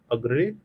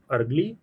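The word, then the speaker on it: Argyle: यहां पे अग्रे अग्रे और डायमंड माइन है। यहां पे एक डायमंड माइन है। इसको काइंडली करेक्ट प्रोनाउंस कर लीजिएगा। यहां पे क्या है? अर्गली अर्गली डायमंड माइन लाई करती है।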